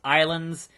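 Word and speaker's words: Ylands: So it's Y Lands, but it's pronounced Islands.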